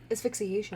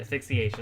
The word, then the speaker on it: asphyxiation: die of a rotting how do you say that word asphyxiation i was gonna say association i thought that was right